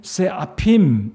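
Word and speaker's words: סְעֲפִים: 바로 여기에 나와있는 발음입니다 제가 뭐 읽어 보면 세라핀 잃어 갑니다 쎄 아 핌 밑에 똥그란 점이 두 개가 지켰고 가로로 찍혔고 세로로 지켰고 뭐 그것에 따라서 약간 발음이 바뀔 수 있는데 아무튼 세아 핌 이 이라는 단어로 시작되는데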